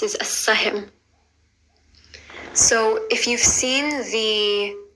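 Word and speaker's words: Al Sah-him: The next thing I'm going to show you how to pronounce is as-sahim. So if you've seen the show Arrow, he's called as-sahim.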